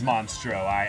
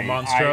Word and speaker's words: Monstro: be so cool it's monstrous oh monster i said it wrong that's right the other the other one though but yeah monstro i believe